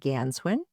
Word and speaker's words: Ganswindt: We've got Forest Ranger Captain Nancy Ganswin. The T is silent and forest ranger Chuck Cabrell.